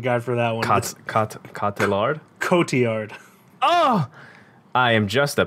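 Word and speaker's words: Cotillard: supporting actress uh first up we've got marion caudillard for annette i knew i should have put a pronunciation guide for that one category coty yard oh i am just a piece of [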